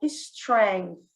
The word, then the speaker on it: strength: My real strength. My real strength. Olha o TH aqui, que a gente às vezes sua para falar, é aquele som interdental, né? A língua entre os dentes.